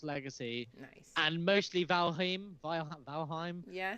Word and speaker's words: Valheim: was like oh yeah I've just started playing this Valium and they were like valheim and I was like oh yeah okay that too you've been saying it wrong oh well it's fine